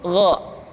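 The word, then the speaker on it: غ: Yang selanjutnya adalah huruf Gha. Diucapkan seperti kita mengucapkan huruf Kha, yaitu diucapkan dari pangkal tenggorokan kita. Yang membedakannya adalah Kha mengalir nafas dan Gha tidak mengalir nafas.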